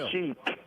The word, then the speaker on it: Chic: But like I said, with Chic, yeah, it's like it's spelled chick.